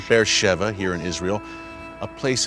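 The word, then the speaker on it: Be'er Sheva: spot to be with you tell bear Sheva bear Shiba it reads on the page but it's pronounced faire Sheva here in Israel a place of incredible biblical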